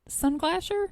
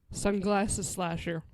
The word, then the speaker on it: Sunglasses Slasher: Sunglasher? No, it is Sunglasses Slasher. Hold on. Hold on. You made it plural. Sunglasses slasher, Sunglasses Slasher. not sunglass slasher.